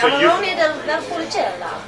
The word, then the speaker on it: Amarone della Valpolicella: So say Amarone del Valpolicella. And you have to say it like that. With an Italian accent.